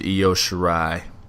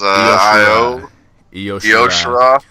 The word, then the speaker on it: Io Shirai: We've got Toni Storm versus Io Shirai.